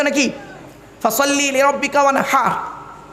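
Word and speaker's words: وَانْحَرْ: ফাসাল্লি লিরাব্বিকা ওয়ানহার, কি বললাম? ফাসাল্লি লিরাব্বিকা ওয়ানহার, উচ্চারণটা ঠিক রাখুন। ওয়ানহার, ওয়ানহার নয়, ওয়ানহার। এই গলার ভেতর থেকে এটা উচ্চারণ করবেন, ফাসাল্লি লিরাব্বিকা ওয়ানহার।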